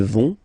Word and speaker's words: vont: Ils vont, elles vont. Okay, remember, final T not pronounced, so you get this O-N nasal here. On, vont.